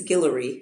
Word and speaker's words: Guillory: Did I pronounce her last name right? I know you know. Right. I believe it's Guillory.